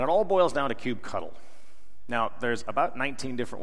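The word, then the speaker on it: kubectl: backs etc and it all boils down to cube cuddle now there's about 19 different ways of pronouncing that some people call it cube control some people call it cube CTL some people call it cube cuddle that's usually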